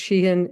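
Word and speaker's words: Shaheen: senator Jean uh uh I think it's pronounced shean It's s h a Heen who was from New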